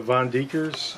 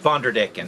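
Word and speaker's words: Von der Decken: That's just a young Vonderdecken female. Oh, yeah. What are you feeding? They get beef liver, hamburger meat with a low fat content, crickets, mealworms, and fruit. So this is the Vonderdeckers? Vonderdecken. Vonderdecken.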